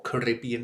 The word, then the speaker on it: Caribbean: skin, you think African, you think Caribbean or Caribbean if you want to pronounce it the American way, or Somali.